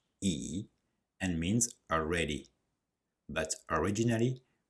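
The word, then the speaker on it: 已: On the right, we have a component that is pronounced E and means already.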